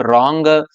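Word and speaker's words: wrong: जब डब्ल्यू से के तुरंत बाद में यदि आर हो, when W comes before are then are will be silent and चुप।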